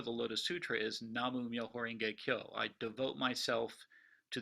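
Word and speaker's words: 南無: in Chinese would be Namo in Japan it's pronounced namu and these two characters the first two up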